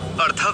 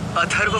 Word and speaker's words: अथर्व: अर्थव नहीं, अथर्व हूँ मैं। मेरा नाम अथर्व है।